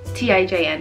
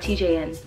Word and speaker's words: TIJN: It's TIJN. TIJN, not TJN. TIJN.